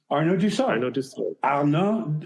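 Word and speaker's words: Arnaud d'Usseau: His name is pronounced? Oh, Arnaud Dussault.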